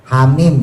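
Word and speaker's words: حم: Yang mukhafaf dibacanya cuman dua harakat yaitu hayyun thahrun. Ha ya th ha ro ha mim misalnya ha mim ha-nya itu dibaca cuman dua Yasin.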